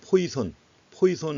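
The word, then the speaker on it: Poisson: 원래 프랑스어로 발음하면 포화송이라고 하는데 자, 포화송. 근데 영국식으로 다 발음하니까 미국식으로 발음하니까 이제 포화송이라고 합니다. 어떤 책에서는 아예 그냥 포이선 해가지고 나온 책도 있습니다.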